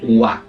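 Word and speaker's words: は: ver dentro un rato también es el wa. Vale, se llama Watashiwa Raúdes, watasiwa senseides. Ese wa en japonés se escribe con la el giriragana ja y no.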